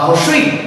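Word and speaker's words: হ্রস্ব ই: জেনে নিব সো চলো এখানে দেখো এই যে রসই আছে বা রসই যেটাই হোক আমরা এখন এটা ক্লিয়ার করবো কিভাবে বানানটা এটার বানানটা হচ্ছে এইরকম বানানটা কি এরকম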